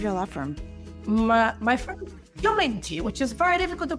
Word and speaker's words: Chiomenti: Chiomenti, love it. How did I do? Probably not well. Very good. Excellent pronunciation.